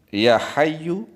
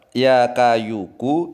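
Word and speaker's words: يا حي: Seharusnya ya hayyu, ya qayyumu. Ya hayyu, ya qayyumu. Tetapi dia salah ucap. Ya kayuku, ya kayumu.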